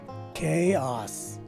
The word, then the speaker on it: chaos: Take a look at the letter O here, because it takes a stretched out letter A sound, as indicated by the diaeresis symbol on top of it. So basically, this word is pronounced as chaos. So if I were to